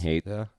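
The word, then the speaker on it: Haight: It's spelled H-A-I-G-H-T, Hate Street. Wasn't there an H at the end? No. Isn't there like a silent H? GHT? Just No. hate.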